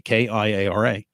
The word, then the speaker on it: Kiara: Kiara we spell with a K, Kiara. Kiara in Italian, same pronunciation, but a different spelling. Chiara, I think.